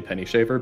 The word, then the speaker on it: Penny Shaver: you pronounce that oh it absolutely is not it's it's 100 actually penny shaver but i like it